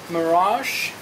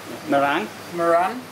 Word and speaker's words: meringue: This is mirage. Meringue? Yes. Yeah, that's a hard word. Yes. At school I said the word meringue. That's the way it's spelled, but it's meringue.